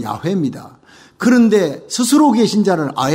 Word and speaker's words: 야훼: 여호와라는 뜻은요, 야훼라는 원래 원어에 가까운 발음은 야훼입니다.